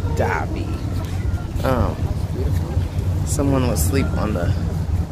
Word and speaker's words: Dhabi: Another stop in Abu Dhabi, which is spelled D-H, not D-A-B-I, Dhabi.